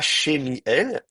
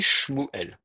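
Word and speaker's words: שמואל: On ne dit pas Shemiel, on dit Shmuel.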